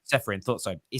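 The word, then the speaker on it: Čeferin: UEFA president Alexander, I think how's it pronounced? Is it Seferin? Seferin.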